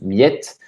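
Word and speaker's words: Mljet: l'île de miettes donc mlj jeter ça se prononce millette et c'est une île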